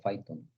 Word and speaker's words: Python: Python, así se pronuncia Python.